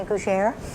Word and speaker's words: gougère: And is it the new gougère? I don't know if I'm pronouncing that correctly. Gougère, yeah. Yes.